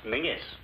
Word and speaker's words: Menzies: A small one, please, Menzies. What's the matter? If all these Atlantic packs are to go through, you Yanks will have to learn to speak the King's English. And Menzies is pronounced Mingus.